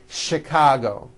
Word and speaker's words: Chicago: with CH and are also pronounced with the SH sound words like chef and the city of Chicago okay having said that